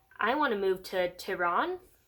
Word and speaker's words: Tehran: And she's like, hey, so BTW, I want to move to Tehran. Let me make sure I'm pronouncing that right. Tehran. I said that right.